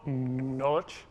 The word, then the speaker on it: Nalej: It's called Nalej, which is spelled like that, but it's the phonetic representation of the word knowledge.